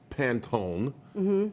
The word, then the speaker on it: Pantone: that okay the problem I have with the Pantone own was that I say it right you did